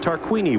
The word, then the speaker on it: Tarquini: next to Gabrielle tarquini that's right tarquini we've been mispronouncing his name all year that Italian driving for